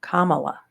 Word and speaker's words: Kamala: But it's amazing since oh God, no, I'm worried about pronouncing her name. Kamala, right? Yeah. It's Kamala, yeah.